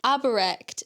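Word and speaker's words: Aubrecht: Aberect, that's how you say his name.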